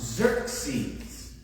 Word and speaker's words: Xerxes: e-r-x-e-s but it is actually supposed to be pronounced Xerxes so I was this many years old when